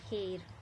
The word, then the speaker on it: heir: It may be noticed that the words are and honest, here begin with a vowel sound as the initial consonant H is not pronounced here.